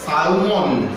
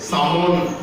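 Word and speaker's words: salmon: ইলিশের মতো একটা মাছ, যেটাকে সালমন, স্পেলিং ওয়াইজ সালমন বলা হয়, কিন্তু জেনারেল প্রোনাউন্সিয়েশনে একে সামন বলা হয়ে থাকে।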